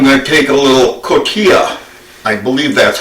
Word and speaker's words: cotija: I'm going to take a little cotija. I believe that's how it's pronounced, C-O-T-I-J-A.